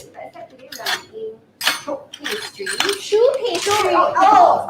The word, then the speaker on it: choux: pronunciation is Choux pastry.